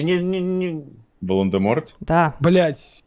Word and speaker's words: Волан-де-Морт: Роулинг утверждает, что буква Т в конце этого имени на самом деле не произносится, ведь у него французские корни.